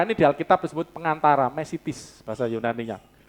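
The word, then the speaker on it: μεσίτης: Pengantara, ini di Alkitab disebut pengantara, mesitis, bahasa Yunaninya. Mesitis, tulisannya mesites, bacanya mesitis, karena E-nya ita, I banyak.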